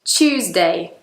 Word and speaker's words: Tuesday: When in reality, it's Tuesday. Choose like I want to choose what I'm having for breakfast this morning.